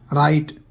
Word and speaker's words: write: डब्लू, अगर किसी शब्द की शुरुआत में डब्लू हो और उसके बाद आर हो तो डब्लू साइलेंट होता है। एग्जाम्पल देखिए, रॉन्ग, गलत। राइट, लिखना।